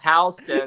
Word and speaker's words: Houston: that's a diving Houston that's pronounced house in Sam Houston at the Battle of